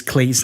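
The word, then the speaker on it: Klich: Sub-editor's nightmare is Cleet's name because it's not how it looks.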